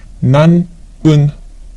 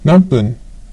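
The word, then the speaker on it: 何分: To ask for the number of minutes or what minute, it's nanpun, nanpun, han, han.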